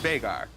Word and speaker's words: Veigar: It's an Icelandic name, and it's actually pronounced Veigar. You hear a lot of people say Veigar, but I know the actual human. Okay. I lived with him, and it's pronounced Veigar. Well, that's important to know